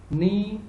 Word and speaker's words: knee: Knee, knife, not, and no. It's very easy. You can easily find out that they all have K silent as a silent letter. So here the K is silent.